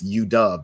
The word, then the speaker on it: U-Dub: University of Washington, which he told me it's U-Dub. That's how they pronounce it.